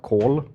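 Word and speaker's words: kål: In Swedish, it's pronounced kol.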